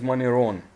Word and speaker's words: Moneron: change the island of moneron moneron is often called mysterious and there are a number of good reasons for it the name on russian is maniron in japanese it's called is known as kaibato but it had a